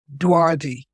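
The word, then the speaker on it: Duarte: little school district in dardy people say how do you say dardy it's like dwa Dy b u a r t what it sounds like d and I went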